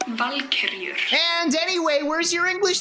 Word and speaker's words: Valkyrie: my pronunciation, Valkyrie, but in my defense, it is actually pronounced as Valkyrie.